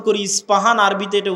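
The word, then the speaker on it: اصفهان: আমরা প উচ্চারণ করি ইস্পাহান আরবিতে এটা উচ্চারণ হয় না আরবিতে হয় আল আসবাহানি বা উচ্চারণ হয় ইসবাহান বা আসবাহানি সেখান থেকে 70000 ইহুদি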